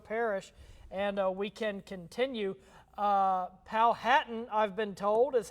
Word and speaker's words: Powhatan: Powhatan, I've been told, is how you pronounce that.